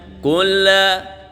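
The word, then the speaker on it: قُلْ: Jadi tidak dibenarkan kalau ada yang membaca mantul, karena huruf lam bukan huruf qalqalah. Jadi bacanya gimana? Kul a'u, kul a'u. Jadi bersih dia, nggak ada pantulannya.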